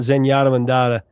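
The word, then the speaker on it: Zenyatta Mondatta: Let's talk about Zenyatta Mandata from 1980. We always wondered if we were saying it correctly when I was Oh, you're saying that one correctly, but first two are always mispronounced.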